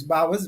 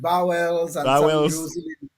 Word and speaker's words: Bowers: And yes, Bowers, Bowers. Yes. And I understand that many from school, many solutions have had a problem, expressing or pronouncing my name as Bowers. That's why I stay away from it. They've used also they've called it Bowels and some in Jews they tend to say Bowers and that sort of thing.